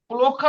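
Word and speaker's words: плохо: পুলোখা, পুলোখা, এটার উচ্চারণ পুলোখা। লোক, পুলোখা লোকা, খারাসু অচিন খারাসু।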